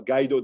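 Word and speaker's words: Guaidó: the president i always have a hard time pronouncing this name gaido uh gaido that i said right yeah he agreed and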